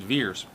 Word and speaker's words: Vers: left the ve RS so they pronounce it veers you know we see